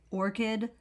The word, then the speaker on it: ORCID: can get yourself an orchid account orchid is spelled o r excuse me it's spelled o r c i d I'll spell it one more time Orchid o-r-c-i-d this is something that